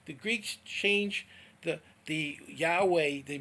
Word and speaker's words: Yahweh: hey final those are the those and it's pronounced yahweh jesus name in hebrew was hey final which